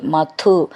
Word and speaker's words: മധു: പറയാനുള്ളതാണ് തപസാ മധു കാനനാന്തേ മധു ധു എന്നുള്ളത് നന്നായിട്ട് ഉറപ്പിച്ചു പറയണം കാനനാന്തേ നാണന്തേ കാനനാന്തേ അങ്ങനെ